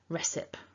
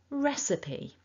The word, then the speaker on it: recipe: and as a consequence many people will apply that rule and so we'll say recip or recipe but it's a it's a p ending with that e on this word so that's the top tip to take away so building that all back together repeat after me stressing the first syllable and remembering your e at the end recipe and there it